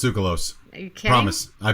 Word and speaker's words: Tsoukalos: Savini and Tasso in, how do you say his name? Stravinsky? No, Tsoukalos. He's That's Greek. how you say that name? Yeah, it's Tsoukalos.